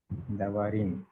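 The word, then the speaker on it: דברים: Devarim.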